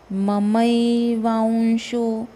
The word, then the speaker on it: ममैवांशो: ममैवांशो, अब व के ऊपर जो अनुनासिक है उसको वांशो नहीं बोलना है, वांशो, व का उच्चारण आना चाहिए। ममैवांशो जीवलोके, सिंपल है, जीवलोके जीवभूतस्।